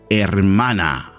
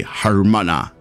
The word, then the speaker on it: hermana: Now don't forget, you don't pronounce the H. It sounds hermana. You don't say hermana.